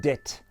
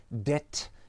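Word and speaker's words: debt: se prononcer eh bien ça se dit dette presque comme en français dette faut juste rajouter un petit peu d'air comme très souvent sur les consonnes en anglais dette et c'est très proche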